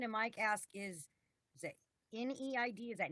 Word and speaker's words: NEID: mike ask is that neid is that need it's pronounced knew it knew it okay is